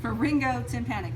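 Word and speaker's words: pharyngotympanic: It's pronounced Ringo, like Ringo Starr. Okay, I think Ringo's. Well, y'all don't know who that is. I do. Pharyngo tympanic tube.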